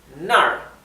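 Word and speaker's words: 那儿: voy hacia allá nar y es importante ver que acá es el tono descendente que es nar porque es importante porque nar significa allá yo voy allá ahora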